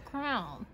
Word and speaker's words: crayon: Because you're looking at the word, and there's no way it's crown.